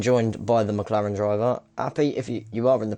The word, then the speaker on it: Aps: How do you say your name? Yeah, in Dutch. Is it Appy? No, yeah, Appy? APS Appy. Appy. Okay, Yeah. perfect.